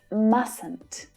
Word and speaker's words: mustn't: me mustn't notice that the middle t is not pronounced in the negative form it's mustn't mustn't not mustn't you